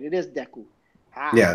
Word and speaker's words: Deku: It is Deku.